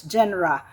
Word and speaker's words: genre: tagalog po natin ang spelling po ay G e N R E or genre But it's pronounced as genera.